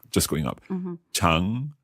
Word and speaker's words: 常: Chang, is that the one that goes down and then up? No, 长, second tone. Just going up. Just going up. Mm-hmm. Chang.